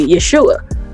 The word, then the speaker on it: Yeshua: If you go back to the best thing that we have for the pronunciation of his name in those times would be Yeshua.